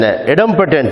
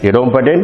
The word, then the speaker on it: idempotent: Eighth one, if A is an idempotent matrix, idempotent and idempotent, both are same. Pronunciation is only difference.